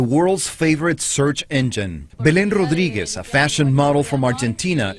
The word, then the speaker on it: Rodriguez: If you notice uh the reporter is uh pronouncing everything very Spanish-like. Rodriguez. I love that when they roll the R, but there's no hint of any other accent ever.